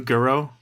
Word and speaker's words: Gero: So like how do you pronounce Jiro in Japanese? Like you're supposed to Gero.